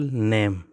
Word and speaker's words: name: नेम में जो ई है, नेम, ये ई हम नहीं बोलते हैं। जब हम नहीं बोलते हैं, लिखते हैं, इसके स्पेलिंग में है NAME, स्पेलिंग में लिखा जाता है लेकिन बोलने में इस साउंड नहीं देता है, तो इसी वजह से इस ई को हम क्या कहते हैं? हम कहते हैं साइलेंट लेटर। ये ई साइलेंट लेटर है।